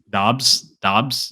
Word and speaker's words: Doubs: Dobbs.